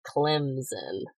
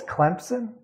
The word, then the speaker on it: Clemson: from Clemson South Carolina which has no PE in it but I know you're not from there if you say Clemson oh it's Clemson oh yeah you have to add in this island P otherwise people are going to be like you're not from here who are you I always think it's